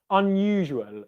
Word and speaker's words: unusual: good question funny word unusual so what might cause people difficulty with with this one is a couple of things the dark l sound at the end of the word we've already looked